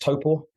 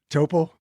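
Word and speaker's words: Taupō: where you live where is that it's it's pronounced toppo toppo yeah toppo it's uh it's a big lake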